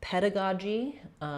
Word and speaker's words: pedagogy: So in pedagogy, we have the stress on the first syllable ped. So we'll have the stress marker, the vowel, peda. Letter A is going to be a schwa, unstressed. First letter G is going to be a g sound, like in go, pedaga.